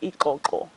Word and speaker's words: ikoko: And the only thing you add an I, and it's pronounced ikoko.